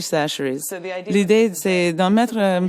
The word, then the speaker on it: Chachere's: C'est Tony Chachere's. Ça s'écrit Chacher, mais on dit Chachere's.